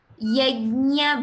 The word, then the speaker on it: यज्ञ: Yajna brid. Yajna. There should be a ya sound, Bhagini. Not ga, Bhagini.